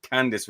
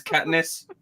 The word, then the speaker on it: Katniss: watched the three films thinking that lady's name was Candice and I was like why the hell are they pronouncing Candice wrong every single time her name's Katniss yeah they just said dumb